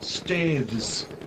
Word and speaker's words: Staithes: Okay, it is pronounced Staithes, Staiths, States.